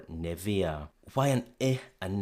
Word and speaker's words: Nivea: When we have EA at the end of a word, the sound would usually be E in monosyllables like flea, plea, see, tea. But in bisyllabic words, it probably looks to us more like area or cornea, and that's probably why we opt for Nivea.